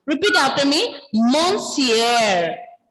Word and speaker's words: monsieur: Ending letter R will be silent. It's not actually fully silent. It is partially pronounced. R is partially pronounced. Repeat after me. Monsieur. Monsieur.